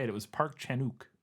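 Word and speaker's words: 박찬욱: Park Chan-wook, and you don't pronounce the W from everything I was able to find. Every time I heard somebody say it, it was Park Chan-wook, like one word, but who knows?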